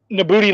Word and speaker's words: Nabooti: Well, Nabooti lives here. Like, nobody lives here.